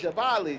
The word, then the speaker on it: Jabali: you you guys do and jabali right am I saying the name of that right here you're saying it right jabali jabali now explain to